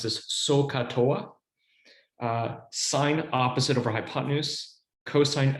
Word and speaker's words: SOH CAH TOA: And you often pronounce this SOH CAH TOA, sine opposite over hypotenuse, cosine adjacent over hypotenuse, tangent opposite over adjacent.